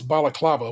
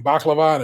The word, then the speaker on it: balaclava: good podcast and uh his inability to pronounce balaclava which is the mask and kept saying baklava just made me laugh